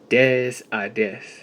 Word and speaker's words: des: Des. For your uh knowledge, it is spelled D E S space I D accented E E and S.